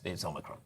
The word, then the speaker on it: Omicron: At no point did they just get a Greek person in to go, it's Omicron. That's how you pronounce it.